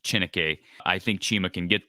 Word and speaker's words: Chineke: now and I think at chinica actually think the last name is pronounced chinike I think Chima can